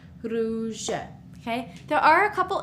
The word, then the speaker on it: rouge: Here we have U makes the sound oo. So with the R in front, it's r, ru, rouge.